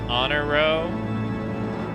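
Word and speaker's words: Honoroit: men before um then and then pronounce honor row because French is French is weird ladies eager to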